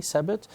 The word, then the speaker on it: Sebit: How do you pronounce it? Sebit? Sebit, S-E-B-I-T.